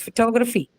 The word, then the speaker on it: photography: All both the conditions are satisfied, hence it has to be aspirated. So it's photography, right? That's the right way of saying it if you're looking at the actual aspect.